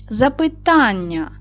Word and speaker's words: запитання: Запитання наголос на третій склад падає на а.